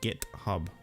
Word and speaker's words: GitHub: It's pronounced GitHub. You know, Git is like a British insult.